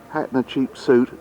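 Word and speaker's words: Hatshepsut: we've now got her her name hatchet suit or hat and a cheap suit is probably the as good a way of pronouncing as well hatchet suit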